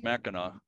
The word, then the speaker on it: Mackinac: got to see at the end you still pronounce Mackinac still always pronounce and that type of thing